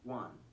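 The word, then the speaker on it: 卍: own proper stroll Corder it is pronounced Juan or referred to as wanza the WAN character it is a homophone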